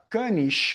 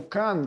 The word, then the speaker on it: Cannes: Eu fiz lá a viagem para Cannes, como a gente fala no Brasil, ou Cannes, como se fala na França, eu descobri isso lá,